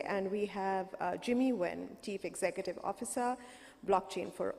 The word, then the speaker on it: Nguyen: is Jimmy Nguyen but in Vietnamese it's actually pronounced when very difficult for people to say especially in America so growing up people started call me Jimmy or and it became kind